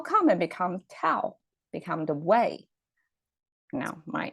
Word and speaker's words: 道: So that's our Tao. We pronounce as Dao, 天道.